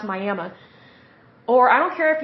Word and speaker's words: Miami: We don't pronounce it Miami, unfortunately. It's pronounced Miami.